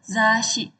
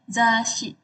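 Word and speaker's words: 雑誌: Nah, untuk bahasa Jepangnya itu zasyi. Zas pakai su kecil ya. Jadi kayak s-nya itu double. Zasi itu tuh majalah atau magazin gitu ya.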